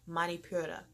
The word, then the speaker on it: Manipura: Then there is the solar plex chakra, which is yellow, and that is pronounced the Manipura.